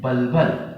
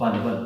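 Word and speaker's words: bulbil: क्या बोलते हैं, बलबल। अब तुम उसको या तो बुलबुल पढ़ो या हम बलबल पढ़ो, क्योंकि एक सही प्रोनाउंसिएशन बलबल है, ठीक है। अब आप चाहो तो उसको बुलबुल भी पढ़ सकते हो, ठीक है।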